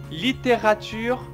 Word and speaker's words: littérature: La littérature française. La littérature française. Encore une fois, littérature. Littérature. Il faut mieux prononcer. Litté. Litté. Voilà. Rature. Littérature. Alors, et le E, on enlève un tout petit peu.